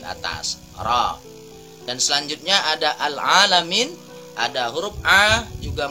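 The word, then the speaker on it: الْعَالَمِينَ: roh dan selanjutnya ada al-alamin ada huruf a juga Mad Thobi'i tidak boleh terlalu panjang hanya cukup dua harokat alamin tidak boleh hahaha panjang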